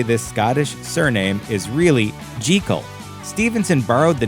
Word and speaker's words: Jekyll: Scottish surname is really Jekyll. Stevenson borrowed the name from his good friend, famed British horticulturist Gertrude Jekyll. Common conjecture states that the choice of this name that rhymes with seek-all is a clever bit